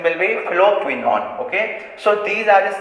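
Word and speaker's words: phylloquinone: Okay, pronunciation will be phloquinone.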